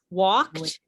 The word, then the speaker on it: walked: So walked is 1 syllable, but waited is 2.